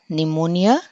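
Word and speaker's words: pneumonia: ఇది పి is silent, so నిమోనియా.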